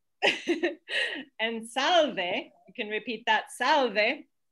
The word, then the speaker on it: salve: polite but very simple salve two syllables take it away ah